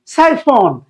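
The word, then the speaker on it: siphon: Chiffon মানে সাইফন। এই যে এখানে সুন্দর করে বলা আছে সাইফন, সাই, এটা এসআই মানে হচ্ছে সাইয়া, সাই FN, সাইফন।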